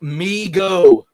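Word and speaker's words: Mego: that point um neil it's pronounced me go okay thank you i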